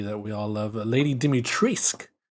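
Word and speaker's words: Dimitrescu: we all love lady dimitrisk it's actually pronounced uh i originally thought it was dimitresco you know i mean yeah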